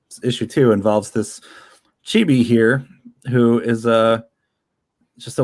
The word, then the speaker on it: Chibi: I've heard it pronounced both ways, by the way, Chibi and Chibi, but I'm going with Chibi.